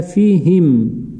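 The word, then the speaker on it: فيهم: Х это самая мягкая ха. Она выходит, произносится на выдохе. Хим, как вот у вас выдох идет, выходит. Хим, не напрягаясь.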